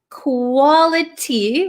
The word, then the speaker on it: quality: Quality, we can say quality, but this T is surrounded by two vowel sounds. So this becomes a flap T, right?